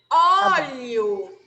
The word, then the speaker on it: óleo: Toda vez que vocês virem algum acento na palavra, geralmente é a sílaba mais forte. Então, vocês têm que pronunciar ela com mais intensidade. Então, aqui a gente tem o tio. Então, vai ser hortelã, tá? Coração, tá? Óleo, tá? Então, sempre tentem fazer com